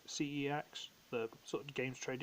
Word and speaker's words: CeX: get this I also found in the local qex for sex however it's supposed to be pronounced cex the sort of games trade in shop I